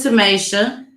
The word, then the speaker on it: Tamisha: Her name was Tamasha. Tamasha. That's how she pronounced it on her Facebook page.